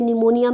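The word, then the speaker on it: pneumonia: Oncogenic transformation और neoplastic transformation, heading डाल लें ओंकोजेनिक ट्रांसफॉर्मेशन, और another term we यूज नियो, P silent है बेटा, नियोप्लास्टिक, जैसे निमोनिया में पी साइलेंट था, नियोप्लास्टिक ट्रांसफॉर्मेशन।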